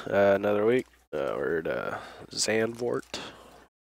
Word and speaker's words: Zandvoort: week we're at uh xan vort that's how you pronounce it going to grab my